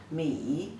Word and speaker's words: 米: It simplified version like this, the pronunciation is 墨一, 米, third tone.